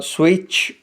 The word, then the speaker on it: switch: Letter والا word ہے جس میں T سائلنٹ ہے۔ اس کے اسپیلنگز SWITCH لکھے جائیں گے لیکن اس کو T کے بغیر پڑھا جائے گا سوئچ۔ تو دیے